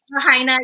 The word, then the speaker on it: Lahaina: pronounce that correctly, by the way? Lahaina, yeah, you did.